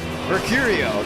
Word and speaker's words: Mercurio: Mercurio. Let me phrase that. Mercurio. That's how it's pronounced, ladies and gentlemen.